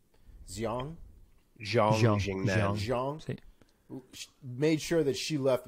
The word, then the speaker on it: Xiong: Definitely made sure how do we pronounce her name? Xiong.